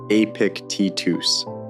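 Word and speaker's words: Epictetus: Yet men like Marcus Aurelius and Epictitus, pronounced Apic Titus, learned how to walk through the fire of daily life without getting burned.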